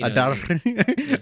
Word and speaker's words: Adar: Is that how you say his name? Adar. Yeah. With you roll the R's. I roll the R just because Adar.